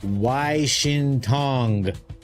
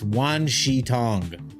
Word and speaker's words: Wan Shi Tong: It's Washington. So sorry, it's Wan Shi Tong. So I pronounce it Washington as a joke.